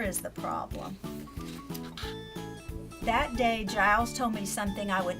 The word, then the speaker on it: Giles: can I help you it says rhymes with miles that's pronounce agile so again that kind of helps kids if they've never seen GI le s they might say Giles but they not hurt dials but they know it's Giles and she tells him